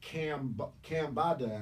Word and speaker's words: Cambatta: And while I was writing it, I was like, my name's Cam. It rhymes directly with Bam, even swap. I like to do that, like Marcus Garvey or the Barrio brothers. So it's Cambatta at the time, and